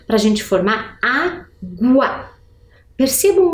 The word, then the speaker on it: água: Água. Qual é o som mais forte? Ele se encontra no primeiro A e, portanto, eu devo acentuar.